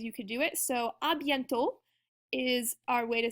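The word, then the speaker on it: à bientôt: could do it so abent is our way to say see you soon that's our first one that t on the end is silent and then our uh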